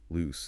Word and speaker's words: loose: Pronounced with a soft a sound. Loose.